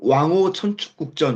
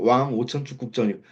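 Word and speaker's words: 왕오천축국전: 지금 떠오르는 게, 뭐, 왕호 천축국전 이런 거예요. 왕오 천축국전, 레미제라블, 레미제라블이 맞잖아요.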